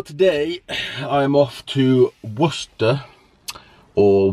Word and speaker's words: Worcester: So today I am off to Worcester or Worcester, which is really how you say it if you look at it, to go and train legs with the Vanilla Granilla.